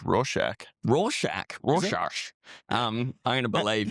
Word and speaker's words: Rorschach: I've never known how to pronounce that, by the way. I think it's Rorschach.